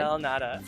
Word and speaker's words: Pastel de nata: The pronunciation. Pastel del nata.